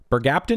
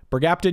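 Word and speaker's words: bergapten: Bergaptin, you can go right into A tier. Plus, you rhyme with mercaptan, and mercaptan stinks, so this definitely belongs in S tier.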